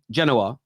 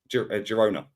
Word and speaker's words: Girona: If Genoa, is it Genoa? Is that how you pronounce it? No, not Genoa. Girona. Girona, sorry, I keep getting it wrong.